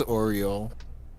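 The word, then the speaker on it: Aureole: even pronounce the name it's like l'oreal a-u-r-e-o-l-e uh yeah i think it's oriole but that's uh that's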